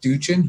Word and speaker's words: Duchin: Jeff Duchin.